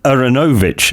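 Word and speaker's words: Aaronovitch: Yep, we have the three Bens, Ben Folds, Ben McIntyre, and Ben Aronovich, as it's meant to be pronounced, I have found out.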